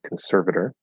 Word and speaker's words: conservator: Conservator, conservator, and conservatee, conservatee. Now, why does that T get pronounced as a T and that is a flap D?